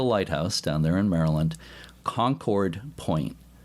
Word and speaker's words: Concord Point: Before we start, I'll mention that they pronounce the name of the lighthouse down there in Maryland, Concord Point. Not Concord.